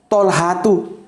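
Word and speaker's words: طلحة: Terus ada tolhatu, ya, bacanya tolha.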